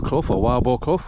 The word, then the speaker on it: Wildboarclough: So, we're just making our way hopefully now back to Wilbur or Wildluff, whichever way you want to pronounce it.